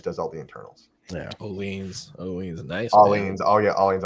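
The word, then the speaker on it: Öhlins: Oleans, nice. Oleans. Oh yeah, Oleans. I'm sorry. Oleans, I pronounced that Olins. wrong.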